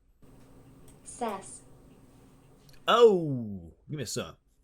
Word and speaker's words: Szasz: it knew exactly what I wanted it to pronounce sass oh give me a song says says that's pretty good anyways the quote is from Thomas says uh he's a Hungarian and American psychiatrist he